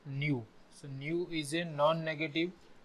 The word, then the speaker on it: Nu: Nu is a parameter we will read this as new and U pronunciation is new so Nu is a